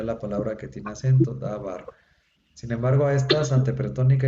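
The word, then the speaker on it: דָּבָר: Normalmente, si como aquí no tiene acento, dabar, normalmente la última sílaba es la que se acentúa.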